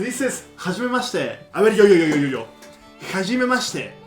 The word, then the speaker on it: Hajimemashite: No, mamá, no pronuncies con J como en el español. Javier, Jorge, no. La H en japonés se pronuncia ha, he, hi, ho. Ja, como cuando te ríes en inglés. Haji, ji, no yi, ji, hajimemashite.